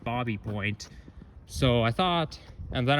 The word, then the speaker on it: Baby Point: And the reason it's pronounced Bobby Point and not Baby Point is because he was French, I believe.